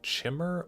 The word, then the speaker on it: Chimer: the kimer too yeah how do you guys pronounce it do you do chimmer or kimer because we pronounce Chim as Chim not as Kim but typically people pronounce kimer is kimer and not chimer is usually how I've heard it the kimer yeah you